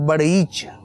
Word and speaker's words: بڑیچ: جو شاخ ہے وہ اس کا تلفظ جو کتاب میں مجھے ملا وہ ہے کہ وہ ڑے کے اوپر شد ہے تو بڑیچ۔ اب یہ مدنی چینل